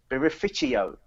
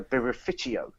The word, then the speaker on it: birrificio: Beerificio. which apparently it's a new word that's been created in the Italian language that's used specifically to associate with artisanal Italian brewers and breweries. So birrificio.